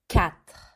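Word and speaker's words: quatre: continue here with cat cat see it's like a cat meow but you hear the at the end again in french very good next one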